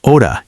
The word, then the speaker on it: hora: Many learners pronounce hora incorrectly. Remember, the H is silent in Spanish, So hora sounds like oda.